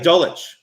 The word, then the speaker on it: Dulcich: Greg Dulcich from UCLA. Dulcich.